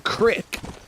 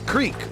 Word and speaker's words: creek: Well, because my son keeps saying crick. And I'm like, where did you even hear that, dude? Because up north where I'm from, everybody says creek. Like, that's how you say it, but he's just saying crick.